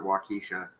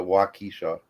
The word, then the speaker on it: Waukesha: here like I think I think you should pronounce it Waukesha yeah she calls it walkisha everyone off we'll say it all sorts of different ways what key says that